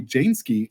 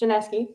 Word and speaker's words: Janeski: our guest Miss jinsky introduce herself to our listening audience at home hello quick correction it's janeski but that's okay Janes jany also works too because that's how you spell it but and you just